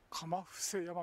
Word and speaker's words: 釜伏山: 鎌伏山みたいですね。間違って読んでましたね、ずっと。